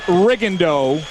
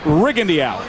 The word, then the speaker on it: Rigondeaux: well if you're wondering his name has been pronounced rendo through most of his amateur career but in prepping for this fight the camp was very clear in saying that the preference is rig Andy out so from this point